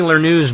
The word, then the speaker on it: Lerneux: I'm going to read now from Penny Lernew's book, In Banks We Trust.